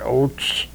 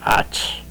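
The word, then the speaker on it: Ötz: We pronounce it Oates, O-A-T-E-S, they pronounce it Otz.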